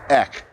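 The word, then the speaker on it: ἐκ: original greek there is a a word that's pronounced ek it's just two characters and and it denotes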